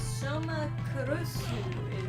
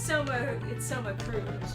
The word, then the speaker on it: Soma Cruz: Chaos Match says Soma Kurusu is his Japanese name. Yeah. Well, it's Soma Cruz, just like pronounced in a Japanesey way.